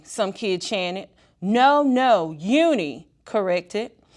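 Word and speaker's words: Unhei: oh oh nee some kid janet no no uni corrected it's spelled u-n-h-e-i it's pronounced uni oh it's you who the boy said like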